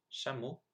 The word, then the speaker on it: chameau: So here are the 8 words I mispronounced. So I should have said the second time traverser, dans, tout, Afrique, chameau, serait, génial, nul.